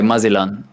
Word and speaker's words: Magellan: Oh, Magellan. Yeah. I gave up on the English pronunciation because it's so cringe. So I just remember it by Mazilan.